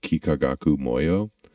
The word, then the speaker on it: Kikagaku Moyo: band and they're called kikagaku moyo um spelled like it sounds uh and it's kind